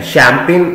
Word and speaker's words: champagne: याद रखना बेटा, ये जो जी है ना इसमें ये साइलेंट है। शैंपेन बनेगा CHAMPAGNE, शैंपेन।